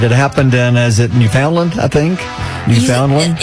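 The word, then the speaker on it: Newfoundland: happened in is it New Foundland I think New Foundland you say it like New Finland okay New Finland I'm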